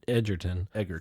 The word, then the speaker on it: Egerton: And I always say it wrong, but Taron Egerton. There's no D.